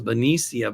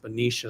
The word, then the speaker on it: Benicia: I always thought it was Benia, but it's pronounced Benicia.